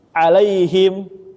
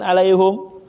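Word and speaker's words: عليهم: Alaihim bukan alaihum. Alfatihah kan giriril magdubi alaihim kan ada yang baca alaihum.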